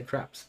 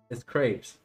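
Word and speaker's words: crêpes: I just say craps. And for our servants. A good way. Is that how you pronounce it? Did I butcher it? I'm pretty sure they're just called crepes. Crepes. It's crepes, isn't it?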